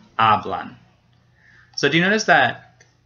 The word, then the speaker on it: hablan: And now hablan, it ends in an N. So remember we had to ask ourselves if it ends in a vowel, N or S. It does end in an N, so the second to last syllable gets stressed. Ah, hablan.